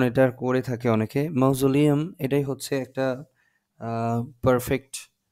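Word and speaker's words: mausoleum: ma'am হ্যাঁ আমি জানি আমরা জানি ইটস ন্যাশনাল মৌজলেম অথবা এই মৌজলেম এটাই বলা হয় অনেকে মৌসুলেম বলে অনেকে মাউজুলিয়াম বলে ঠিক আছে অনেক উচ্চারণ এটার করে থাকে অনেকে মাউজুলিয়াম এটাই হচ্ছে একটা পারফেক্ট উচ্চারণ এখানকার আপনারা চাইলে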